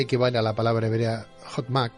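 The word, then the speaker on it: חכמה: Yo me planteo ahora, doctor, porque según los postulados cabalísticos, sabiduría equivale a la palabra hebrea Hotmak, creo que se pronuncia así, sí, Hotmak, gracias.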